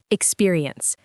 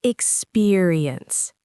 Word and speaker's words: experience: Word 1, experience. It's usually experience, not experience.